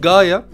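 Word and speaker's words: ガイア: Kaya, bizim Kaya diye okuduğumuz şeyin aslında orijinal okunuşu Gaia.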